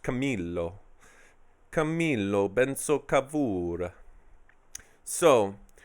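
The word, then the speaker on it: Camillo: is that they don't the two L's in Italian are pronounced Camilo Camilo been so kabura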